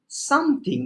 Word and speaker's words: something: I learn সামথিং, নট সামথিং, সামথিং। টি সাউন্ডের উচ্চারণ হয় থয়ের মতো করে।